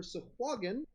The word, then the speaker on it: Sahuagin: So, official Dungeons and Dragons says that the pronunciation for Sahuagin is that Sahuagin or Sahuagin are both correct.